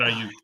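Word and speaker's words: Aiyuk: number 11 Brandon I oh Brandon IU Brandon IU thank you IU I can never say it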